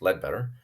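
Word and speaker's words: Leadbeater: to understand but Charles lead better pronounced lead better wrote a number of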